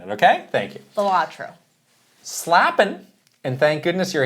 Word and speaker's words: Balatro: Nominees are Stratagems in Helldivers 2, Astrobot Transformations, Creating Echoes and Echoes of Wisdom, Jokers in Balatro.